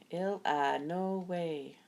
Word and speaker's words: Illinois: a blackberry pie chapter 7 Ln no way ill no way lookie there Gramps shattered the Illinois State Line he pronounced L ill no way exactly the way